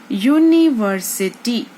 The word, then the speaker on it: university: So if you see, university word is starting with the vowel, which is U. However, the sound of university word is starting with the U, and U is a consonant.